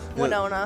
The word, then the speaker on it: Winona: i did it's it's it's one nonna yep winona yeah so i was i was right on